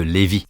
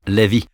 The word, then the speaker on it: Levi: mot ch vous voyez vous devriez dire Levi au lieu de LVI pasteur vous le dites pas bien non en fait c'est vous qui vous trompez demandez à des juifs ils le prononceront Levi d'accord mais peu importe